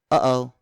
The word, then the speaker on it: uh-oh: That gap between the and the o, that's a glottal stop. Again, that's uh-oh.